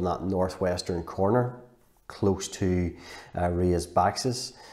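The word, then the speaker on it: Rías Baixas: northwestern corner close to Ria's boxes that's how you pronounce it and so the famous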